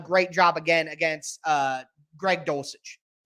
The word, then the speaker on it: Dulcich: He's going to need to do a great job again against Greg Dulcich. Silent H in there somewhere.